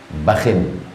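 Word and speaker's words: بخ: Sallallahu Alaihi Wasallam berkata bakhin ba dengan K cara membacanya dua pertama bakh ujungnya sukun yang kedua cara membacanya bakhin itu bahasa Arab ungkapan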